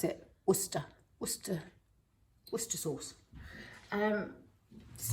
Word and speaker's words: Worcester: or english british struggle to say we don't pronounce it warcester sauce we pronounce it worcester worcester worcester sauce um this is tesco's own